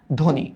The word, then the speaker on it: ধ্বনি: লিখলাম হ্যা ধনি দেখ এই বফলার উচ্চারণটা নাই কেন কারণ বফলা শুরুতে আসছে আর এই যে নয় রশিকার এটার প্রভাবে এই ধ মানে অধনির উচ্চারণটা ওর মত হয়ে গেছে তাই এটার উচ্চারণটা আমরা করি হচ্ছে ধনি এইযে ধনি হ্যা এইযে